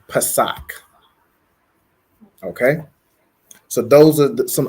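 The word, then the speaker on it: Pesach: okay so Passover is Pak so it's going to be Pa a sa a C and it's pronounced Pak okay so those are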